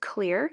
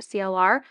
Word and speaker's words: CLR: with them anyways um they told me it's actually pronounced clear and it's not pronounced CLR but I still say